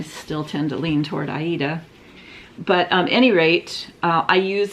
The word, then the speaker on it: Aida: And I had it done on an Aida is how I always pronounced it. I thought it was like the opera, so now I've heard it pronounced Ada or Ida, and I still tend to lean toward Aida.